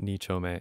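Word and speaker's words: Nichōme: underneath the main pads the name uh it's pronounced nichole it's just a way of addressing different neighborhoods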